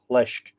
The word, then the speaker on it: fhlesc: It's mutation, or is it eclipses, where it eclipses the F because the F is lenited. FLESC becoming FHLESC. Lesk. So you don't pronounce the F.